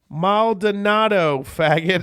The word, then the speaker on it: Maldonado: money is Mike Trout it is pronounced Maldonado thank